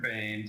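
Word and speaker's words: Boehme: Bame if you could state your full name and spell it please. Bane spelled I think that's E H M E.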